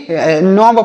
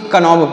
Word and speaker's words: knob: अब यहाँ पर देखिए KNOB, तो इसे भी नॉब पढ़ेंगे। क्या पढ़ेंगे, नॉब, KNOB, नॉब। इसे नॉब पढ़ेंगे, ना कि कनॉब पढ़ेंगे। यहाँ पर के साइलेंट है, इसे नहीं पढ़ा जाएगा।